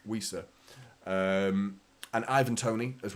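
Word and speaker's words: Wissa: pronouncing his name wrong I was told to whistle when I say Visa so weisa um and Ivan Tony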